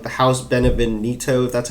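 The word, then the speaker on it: Beneviento: and when not to um like the house benevonito that's how you pronounce it was like the whole time that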